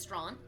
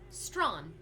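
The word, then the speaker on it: Strachan: there's a street in toronto called strawn it's pronounced strawn it is spelled s-t-r-a-c-h-a-n you know strong s-t-r-a-c-h-a-n strawn i don't think i've had a campsite villager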